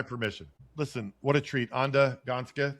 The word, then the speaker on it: Anda Gansca: Anda Gansca. Did I say it right? Yeah.